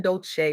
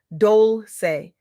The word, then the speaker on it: Dolce: I'm your host Dolce, pronounced dol-say, like sweet softness whispered in French, and I'm your guide